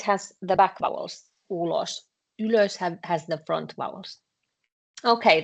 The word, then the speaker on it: ylös: Yeah, you have to be pronounced quite clearly, because otherwise, if you are not pronouncing y and ö, then it sounds like you are saying ulos.